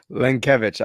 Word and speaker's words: Lenkiewicz: Lenkiewicz. I always say it's like Stankiewicz.